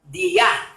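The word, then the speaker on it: διά: medio en el griego significa dia con acento en la a y significa un conducto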